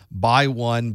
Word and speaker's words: x1: The X is actually pronounced by, so it's also common to hear this referred to as by 1, by 2, by 4, etc.